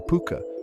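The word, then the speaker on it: Púca: The Puka, pronounced Puka, is a creature of duality, capable of both great harm and unexpected kindness.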